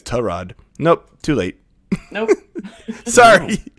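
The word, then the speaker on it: Tyrod: career he's like oh by the way it's terrad nope too late nope sorry no you surely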